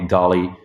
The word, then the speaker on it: DALL·E: just wondering do you is it called Del e or doll e the AI that you're using and now I think it's uh um it's not about pronunciation dolly dolly um no so just